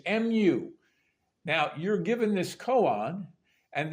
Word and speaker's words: Mu: Zen is M now a lot of people mispronounce it as Mo but it is Mu now you're given this